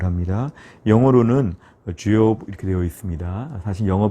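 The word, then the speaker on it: Job: 우선 명칭을 보시면 첫째, 히브리어로는 이욥이라고 이렇게 우리가 발음을 합니다. 영어로는 주욥 이렇게 되어 있습니다. 사실 영어 발음이기 때문에 정확하게 한글로 옮기긴 좀 어렵지만 가만히 들어보면 주욥 이렇게 되어 있습니다.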